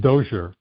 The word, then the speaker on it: Dozier: It's It's It's actually pronounced Dozier. Dozier?